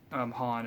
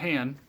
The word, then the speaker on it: Han: The thing that annoyed me most that he can't pronounce Han. It's not Han. It's Han. Watch these movies enough to know it's Han, and I don't know why people always mess around calling him Han. It's Han. It's never been Han.